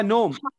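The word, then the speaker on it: gnome: ये अच्छा, नोम। इसमें देखो जी के बाद एन आया है, यानी जी के साथ एन आया है, तो इसमें आप जी को साइलेंट कर दीजिएगा।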